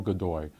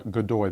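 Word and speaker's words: Godoy: government increasingly is dominated by this man Manuel gdoi this is uh gdy that's spelled g o d o y gdoi made his way to court as an attractive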